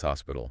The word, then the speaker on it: hospital: you're absolutely right it's Hospital okay but remember the H is silent in Spanish so it's pronounced Hospital